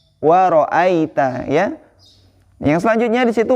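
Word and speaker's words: وَرَأَيْتَ: Cara membacanya ai atau au, ya, seperti itu. Jadi cara membacanya di sini waro'aita, waro'aita, ya.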